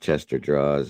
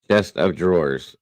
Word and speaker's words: chest of drawers: uh let's see here I called Chester draws until a week ago chest of draw wait a minute I call you called it a Chester draws chest of drawers oh God it's okay